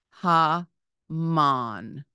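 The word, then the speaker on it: המן: second word is hman ha man with two a sounds Haman with a final nun the third word is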